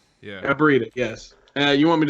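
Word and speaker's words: Aibretta: my name's abrina hi nice to meet you abrida you may call me uh nice to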